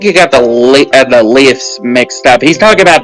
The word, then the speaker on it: Leif: lift the edgy Alphonse I know he's pronounced Leaf but I think Lyft sounds better because they're different differentiates